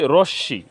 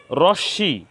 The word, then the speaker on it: রশ্মি: শেষে দ এর সাথে ম ফলা সংযুক্ত হয়েছে উচ্চারণ রীতিতে হয়েছে পদ্ম এখানে রশ্মি আমরা পড়ি রশ্মি রশ্মি এখানে তালব্য স এর সাথে ম ফলা সংযুক্ত